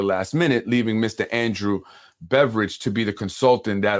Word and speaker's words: Beveridge: A gentleman by the name of Andrew Beveridge, not spelled like beverage, but Beveridge.